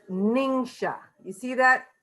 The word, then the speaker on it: NingXia: First of all, a lot of people have trouble figuring out how to pronounce NingXia Red. It's Neen-Sha. You see that phonetically spelled out?